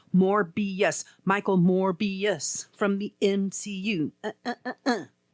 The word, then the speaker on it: Morbius: It's Morbius.